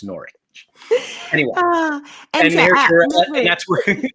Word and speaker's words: Norwich: First of all, Google how to pronounce that, because I was about to butcher it by calling it Norwich, and it's not, it's Norwich.